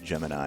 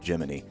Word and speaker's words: Gemini: a NASA nerd you know that it's not pronounced Gemini it's geminy so all right let's do it this tape